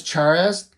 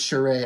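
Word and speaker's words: Charest: of homage Studios like Travis charez you know or Travis Sheree I should say is how you say his name but he didn't start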